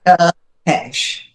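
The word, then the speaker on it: Țepeș: last name, so please, if you wouldn't mind, pronounce it for me. Tepesh.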